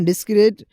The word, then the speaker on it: discrete: इनकी प्रोनाउंसिएशन को अगर उर्दू साउंड में देखा जाए तो कोई ख़ास फ़र्क नहीं है। डिस्क्रीट डिस्क्रीट प्रोनाउंसिएशन सेम है, लेकिन मीनिंग और कॉन्टेक्स्ट बिल्कुल अलग है।